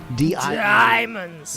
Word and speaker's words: Diemonds: This is a short little number by a band called Diemonds, and Diemonds is spelled like die, like you die. Diamonds. Yes, Diemonds.